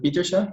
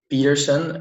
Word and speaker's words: Pieterse: 21 years old um so you should probably pronounce it and then um peterson as in jordan peterson i'm not sure if you know him but that's basically the english version of my last name so i'm 21